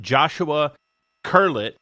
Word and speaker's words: Joshua Curlett: So we've got Joshua Curlett.